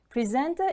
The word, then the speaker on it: presenter: Presenter is a noun. It is a person who introduces the items in a particular program. Presenter. The stress is on the second syllable.